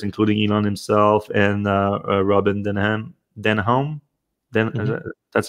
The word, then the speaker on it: Denholm: bunch of directors, including Elon himself and Robin Denholm. Mm-hmm. That's how you pronounce the last name.